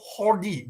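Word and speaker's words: Jordi: hungarian name no no this is actually a spanish name so in spain in spain it's called hordi ji becomes his hot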